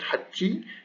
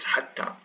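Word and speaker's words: حتى: So hatta, this word hatta, it is not rare to see it with this alif, this alif khanjariya on top, just to be sure it's not hatti, it's hatta.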